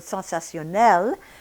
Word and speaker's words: sensationnel: Now making the longer word sensationnel, at the end of that word we have the syllable nel, and here again we have the N.